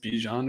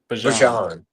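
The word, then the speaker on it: Bijan: give it up to I don't know how you're supposed to say his name. Be what is it? Bjon or something. they want he wants to call Bjan Bjan sorry Panex I mean like we've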